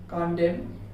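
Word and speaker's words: condemn: जो वर्ड रहेगा उसके एंडिंग में एक साथ में MN मिलता है तो आप उसे साइलेंट कर दीजिए। जैसे ऑटम, कॉलम, कॉन्डेम, ये हो गया सॉलम,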